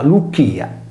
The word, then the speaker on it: Lycia: Quasi fossero una luce riflessa, la regione storica della Licia, pronunciata Lucchia, e della Caria Anatoliche